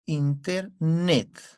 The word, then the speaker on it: Internet: ¿Dónde está la mayor fuerza de voz? Internet. En la net.